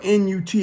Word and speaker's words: Nut: Okay, but there was a Egyptian goddess, however you want to say it, named Nut. Her name is spelled N-U-T. It looks like nut, but it's pronounced Nut.